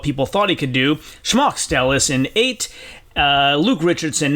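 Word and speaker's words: Šmaukstelis: pronounces his own name it's more of an sh at the beginning and it's more emphasis on the first syllable so schmuckstellis that's how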